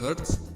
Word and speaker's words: hertz: Bacanya hertz, lambangnya atau tulisannya itu Hz ya. Dibacanya hertz itu ya.